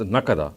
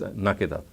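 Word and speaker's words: نكدا: He says that some people have read the word as nakada, whereas the qira'atul amma is nakida.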